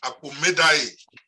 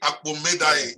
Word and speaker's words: Akpomedaye: Believe it or not, his name is Victory Akpomedaye. They better call that name right. We call him Victory Akpos now, but it's Victory Akpomedaye. He has made his impact.